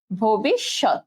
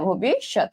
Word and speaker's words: ভবিষ্যৎ: আচ্ছা, তারপরে কি হবে তালব্য স ত, ভবিষ্যৎ, ঠিক আছে, ভবিষ্যৎ, এটাই হচ্ছে কিন্তু এটার উচ্চারণ।